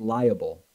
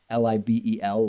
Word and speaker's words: libel: sue for liable now why am i opponent pronouncing it liable because that's how Trump spelled it Li a ble I guess meaning of course Li b e l libel a published false statement